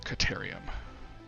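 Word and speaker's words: Caterium: a quick wire so that's actually how you pronounce it it is pronounced Kataria my phone real quick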